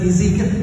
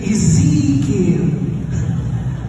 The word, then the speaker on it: Ezekiel: She told me how to pronounce Ezekiel. It's not just Ezekiel, Ezekiel.